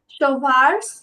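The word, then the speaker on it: schwarz: কালোকে আমরা দুই ভাবে উচ্চারণ করতে পারি, একটা হচ্ছে শোভার্স, শোভার্স, ভে আছে, শোভার্স বলতে পারি, আবার চাইলে শোয়ার্সও বলতে পারি। দুইটাই অ্যাপ্রোপ্রিয়েট করা যায়, দুইটাই আপনার জন্য সঠিক।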